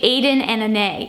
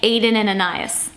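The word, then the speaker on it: aden + anais: look up that that is how you properly pronounce that brand name like who knew it's actually Aiden and Ane even though it looks like Aiden and anas it's spelled it's pronounced aen n and it's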